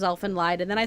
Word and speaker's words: Elfen Lied: I used to say Elf and Lead and then somebody told me that it was Elf and Lied and then I said